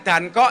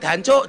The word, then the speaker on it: Danko: Lah, kalau tank ini masuk ke kampung Surabaya, orang Surabaya teriak-teriak Danco, Danco, Danco, Danco. Kenapa orang Surabaya bilang Danco? Karena susah ngomong Danko. Orang Jawa bacanya Danco.